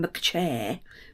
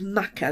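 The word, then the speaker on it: machair: this is the Maca which is spelled m a c h a i r as in mcair but it's MAA which is like bogland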